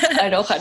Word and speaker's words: Aroha: Aroha. No, I did not pronounce it properly. It's a Maori word, and I really love it because it means love in the Maori language, and it's a bit